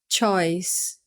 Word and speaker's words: choice: Lembrando que a gente não fala esse E que está aqui no final para pronunciar em nenhum dos dois casos. Então, a gente vai falar choose, choose, choice, choice. Então, não fala choose e não fala choice, tá?